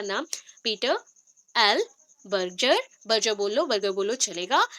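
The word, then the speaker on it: Berger: तो यहाँ पे एक्चुअली जब प्रोनाउंसिएशन होता है, बर्जर भी बोल सकते हैं, बर्जर, बट हम लोग कॉमेडी करके थोड़ा याद रखते हैं, तो बर्गर।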